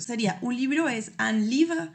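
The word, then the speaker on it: livre: Por ejemplo, un libro y los libros sería un libro es un livra. Y si se dan cuenta, la palabra termina en e, pero yo no estoy pronunciando esa e.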